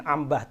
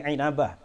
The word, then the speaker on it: Inabah: inabah inabah inabah bahasanya Bacanya jangan Ambah tapi inabah wafat 828 Hijriah dalam